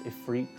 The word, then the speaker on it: Ifrit: atomos Leviathan and sheba Ifrit which some people pronounce a fruit um like you as